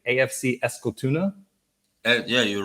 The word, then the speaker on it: Eskilstuna: going to see if I remember how to pronounce this correctly. AFC Eskilstuna. Yeah, you're right. A. Eskilstuna. AFC Eskilstuna.